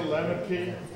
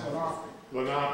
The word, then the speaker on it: Lenape: Were they the Lenape? Well, that's how most people would say the name, although it's actually pronounced Lenape.